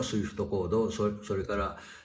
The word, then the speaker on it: SWIFT: なんですねスイフトっていうのは Swift と書いてスイフトというんですがえ皆